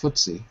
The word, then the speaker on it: FTSE: it stands for anyway it's pronounced footsy but they don't say